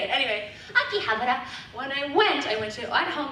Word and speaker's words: Akihabara: Anyway, Akihabara.